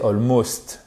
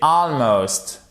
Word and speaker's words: almost: Almost, que vous connaissez, mais à ne pas prononcer almost. Non, c'est almost, presque.